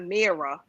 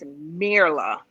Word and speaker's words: Mirla: It's not Mira. It's Mirla. Mirla.